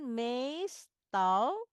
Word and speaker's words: meestal: We eten meestal. Mees jadi baca panjang.